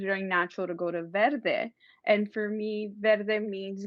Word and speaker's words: Verde: funny when you hear why people try to pronounce verde and they can they're like their day and then you can tell the hispanics you know they can pronounce it properly but then they know